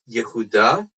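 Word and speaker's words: יהודה: So in Hebrew, it's pronounced Yehuda.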